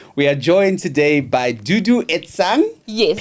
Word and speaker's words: Duduetsang: My word, ladies and gentlemen, we are joined today by Duduan.